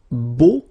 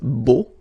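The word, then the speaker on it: beaux: Okay, so you put this X at the end, but then you don't pronounce it, so it's beau.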